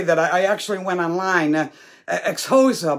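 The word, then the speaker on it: Xhosa: i actually went online ex hosa but you're supposed to say it like with that click of your tongue and and i can't do it but it it's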